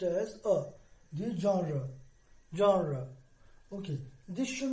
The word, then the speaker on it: genre: term which means kind or high the term genre g-e-n-r-e should not be pronounced as genre okay its formative transcription is